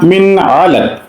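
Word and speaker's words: مِنْ عَلَقٍ: তারপরে নুন সাকিনের পরে আইন হলে কিভাবে উচ্চারণ করব। এখানে ৩ নম্বর লাইনে খলাকাল ইনসানা মিন আলাক, খলাকাল ইনসানা মিন আলাক।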